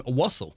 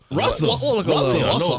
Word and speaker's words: Russell: I kind of like how you mispronounce his name, Wussel. Russell. Russell.